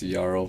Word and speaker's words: Jarl: The J is silent. Yeah, it's Jarl.